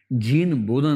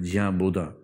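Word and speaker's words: Jean Bodin: उसी 16वीं सेंचुरी में जीन बोधा नाम का आदमी, जिसको अंग्रेजी में बोडिन तरीके से लिखते हैं, BODIN, फ्रेंच उच्चारण इसका बोधा होता है, जिया बोधा, जीन बोडिन।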